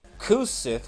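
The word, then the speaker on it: Cu Sith: Kate Sith is pronounced Ka-Chi, and then Kusith, which is literally C-U, and then Sith, S-I-T-H. That's how it's pronounced.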